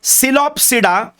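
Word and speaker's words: Psilopsida: सी the pronunciation, P है पर इट is silent, it is called सिलोप्सिडा, और उसका एग्जाम्पल है सिलोटम।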